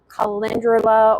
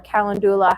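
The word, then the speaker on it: calendula: um which is tallow with um comfry, chickweed, plantain, arnica, kindula or kalandula, however you want to pronounce it.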